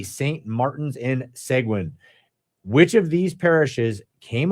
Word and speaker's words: Seguin: Oh, by the way, I'm told that it is pronounced Seguin.